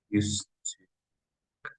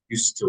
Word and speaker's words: used to: got a job bank used to for pronunciation used to like it's one word it's used to word not used to it's not necessary used to number six